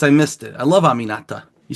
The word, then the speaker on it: Aminata: I love Aminata. You say her name right. Aminata.